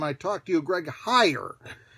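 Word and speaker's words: Heiar: talked to you greg hire it is spelled h-e-i-a-r but pronounced higher i think i previously called it here uh is coming to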